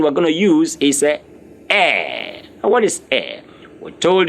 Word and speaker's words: est: Please, it's not east, it's not est, it's est.